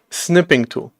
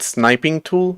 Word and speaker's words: Snipping Tool: Snipping tool. See, I kind of feel like pronouncing it sniping tool. That's not exactly correct, so I need to be a little bit careful.